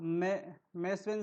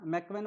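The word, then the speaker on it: McEwen: तो right answer हो जाएगा, इसे कहते हैं क्या, आप मैस्वेन साइन, ठीक है, क्या मैकवेन बोल दो या मैस्वेन बोल दो, उच्चारण आपको करना है, ठीक है।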